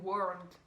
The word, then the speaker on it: world: Le mot world. En fait, la plupart des Français, on ne prononce pas le L.